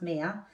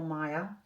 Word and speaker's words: Mia: stuff like that so first of all it's pronounced Mia some people have asked if it's Mia or Maya we knew from pretty much when we first